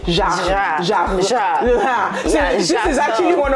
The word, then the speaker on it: Jacques: Okay, it's almost like how, you know how French people say it's actually not, it's not Jack, it's Jacques.